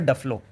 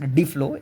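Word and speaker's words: Duflo: A pathbreaking study by Nobel laurate Miss Esther Dlo actually it's pronounced Dflow.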